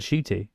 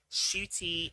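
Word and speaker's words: Ncuti: this whole video like you pronounced my name shooty shoot like a shoot yeah this is what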